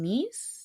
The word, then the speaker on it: Nys: Is it Vaseline and Nie? Nys, how do you say it? Nice.